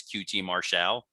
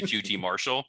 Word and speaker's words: QT Marshall: show is he's now insisting that they pronounce his name as qt martial as opposed to qt marshall they've worked it into